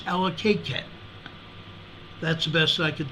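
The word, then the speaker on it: Allakaket: this is a 2.9 near allocatec Ella cat a-l-l-a-k-a-k-e-t Alaska I believe it's allocated that's the best I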